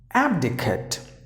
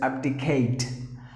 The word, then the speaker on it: abdicate: And then usually people will pronounce the word as abdicate. Abdicate, which is absolutely wrong. But the correct way to pronounce the word is abdicate.